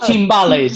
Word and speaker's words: timbales: so um how many how do i uh pronounce the name is that you said ballet or timbaland it's called timbales yeah i say it in this well you